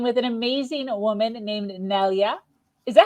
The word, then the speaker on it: Nelia: Today, I'm speaking with an amazing woman named Nelia. Is that how I pronounce that? Yes, Nelia is perfect.